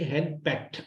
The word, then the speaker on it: henpecked: लिख लें आप लोग स्पेलिंग HENPECKED और उसको पढ़ेंगे हैंडपैक्ट, आखिर में टा साउंड आएगी, हैंडपैक्ट। के साइलेंस होगा HENPECKED हैंडपैक्ट।